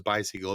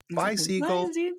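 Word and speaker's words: Bisiegel: I'm pronouncing that and I always tell them you're like you're saying bye to a seagull bye seagull seag and so now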